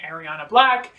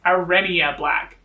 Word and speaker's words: Arena Black: wrong this entire time i've been saying ariana black and it's arena black totally my fault didn't